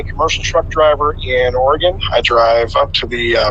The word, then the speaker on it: Oregon: in Tigard Oregon yes 10-4 and it is pronounced Oregon indeed well I was never gonna argue with